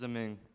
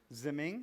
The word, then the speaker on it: Ziming: it's Zeming. Ziming?